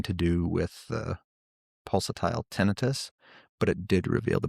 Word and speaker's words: tinnitus: It's not tinnitus, it's pronounced tinnitus.